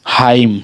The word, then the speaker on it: hymn: और अगला हमारा DAMN, डैम पढ़ा रहा है, ठीक है, डैम, डॉम नहीं, डैम का उच्चारण हो रहा है। अगला HYMN, हाइम, ठीक है, इस प्रकार से इसका उच्चारण है।